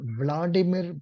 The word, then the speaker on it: Vladimir: yes sir yes yes but but he is Vladimir Putin okay okay pronunciation v l a d i m i